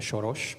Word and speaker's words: Soros: of this nice hole mr. surage pronouncing your name in Hungarian here in Budapest I